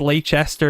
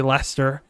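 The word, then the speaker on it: Leicester: Adana corrected me about I used to pronounce this as leester it's actually ler so um how about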